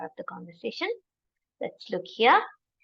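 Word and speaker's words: Herr: this hello he Hansen so it's not her hello he Hansen this is so easy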